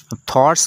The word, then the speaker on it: thought: थॉट्स का जो लफ्ज़ है उसमें GH साइलेंट है। साइलेंट का मतलब ये है कि इसकी आवाज़ नहीं आती है। THOUGHT थॉट, और इसके आगे S है, जमा है थॉट्स, ख़यालात, तसव्वुरात।